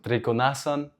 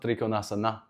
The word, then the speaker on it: trikonasan: For example, trikonasan. It's not trikonasana, so it's interesting.